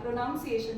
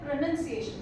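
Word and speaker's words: pronunciation: प्र प्र प्रोनाउंस शायद तुमने कहा प्रोनाउंस एशन ना है ना सो प्रोनाउंस एशन इज नॉट the correctly प्रोनाउंसड thing प्रोनाउंस होता है प्रोनंसिएशन होता है क्या होता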